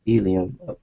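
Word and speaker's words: ylem: solid core of nothing yam pronounced Elum Elum with a name like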